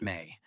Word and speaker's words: me: They wrote about the ME, pronounced may, the divine objects of power that were the lifeblood of the Anunnaki, those who descended from the heavens.